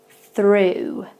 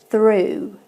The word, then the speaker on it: through: the third one through so you can tell with the first one it's not the same vowel sound at the beginning it's though whereas the second two we have thought you can see my tongue moving a little bit and through so that's what the difference is at the beginning of